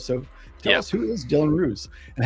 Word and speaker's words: Roos: you saying it right you're actually saying it right so it's all good usually people will say or or ross i get ross a lot in america but you got it right mate so now um